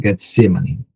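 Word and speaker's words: Getsêmani: caminhada até o getsem que é o Getsemani né pronunciado como Getsemani é a prensa da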